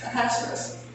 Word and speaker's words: Ahasuerus: Ahasuerus.